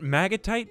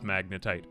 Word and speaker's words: magnetite: I did it anyway magnetite or what is it maggotite am I saying it wrong let me just double check no it is magnetite I thought it was